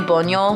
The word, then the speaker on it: Buñol: It's B-U-N with the little thingy O-L. So I think it's like Buñol.